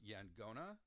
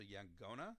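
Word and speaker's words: yaqona: do this but um instead of a Q sound it's a G sound so ya gonna so sometimes you'll see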